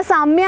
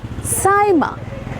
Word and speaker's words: Sayema: ना साम्या है, ना सईमा है, ना सीमा है, साइमा साइमा बी for pronunciation pronunciation we साइमा।